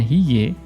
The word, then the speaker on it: hygge: Ya, walaupun tulisannya Hygge, katanya cara pengucapannya adalah Hygge.